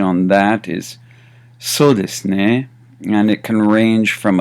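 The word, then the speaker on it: そうですね: So pronunciation on that is so desu ne, and it can range from a question to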